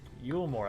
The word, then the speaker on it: Yulmore: Yulmore, that's how you say it.